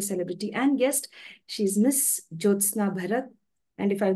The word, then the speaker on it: Jyothsna Bharat: much once again uh I think youve pronounced it right J parat yes or for your comfort